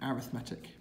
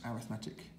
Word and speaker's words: arithmetic: And this one where you commonly add a number is called an arithmetic. Spelt the same as arithmetic, but pronounced arithmetic sequence.